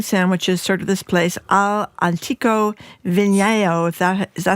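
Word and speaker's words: All'Antico Vinaio: Alantico Vigno, if that is how you say it, you probably know. Alantico Vio.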